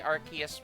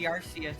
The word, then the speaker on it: Arceus: It's definitely pronounced with an S sound because the Japanese name is phonetically identical. Yeah, I mean, I'm sure that they meant for it to be Arceus in Japanese, and because